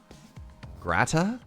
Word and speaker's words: gratin: research seafood place huh don't pronounce the N grata grata oh man I